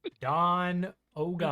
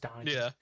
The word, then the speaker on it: Donegan: I love how you tried to D&Dify the name, but it's just Donegan.